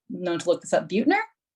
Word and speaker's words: Buettner: Buettner. That's how he pronounced it on my Audible.